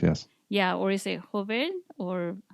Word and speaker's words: Jover: Yeah, or is it Jover, or how do you say Yeah, it? Jover. Arly Jover.